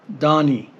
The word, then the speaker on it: Donnie: name d o n I also added the syllabary sounds da and ni for Donnie so this is how